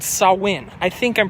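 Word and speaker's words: Samhain: a pagan holiday a Celtic pagan holiday called saw win I think I'm pronouncing that right well Pope Gregory the 3rd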